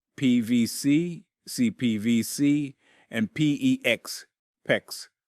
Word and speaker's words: PEX: PEX rhymes with flex are fantastic materials, but